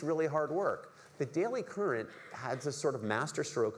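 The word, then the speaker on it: Currant: There's this site that came up, it's not so prevalent now, but used to come up called the Daily Current. It's spelled like a raisin, C-U-R-A-N-T.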